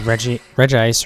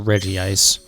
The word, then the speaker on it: Regice: because Regice or Regice. It's spelled Regice, but like... I know a lot of people, including myself, honestly. It just makes more sense to pronounce it like the others.